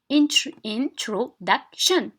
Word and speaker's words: introduction: so we have here introduction 4 syllables right 4 syllables so نحسبوا من الأخير we say 1 2 so duck is stressed okay الشدة تكون في